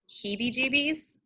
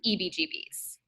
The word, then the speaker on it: heebie-jeebies: you a question, but forever I thought heebie-jeebies was EBGBs. Marcus has always corrected me. He's like, Amanda, so how do you spell that? I was like, E-B? That's all. So I, again, was probably 30 years old when I realized I had been saying it wrong my entire life.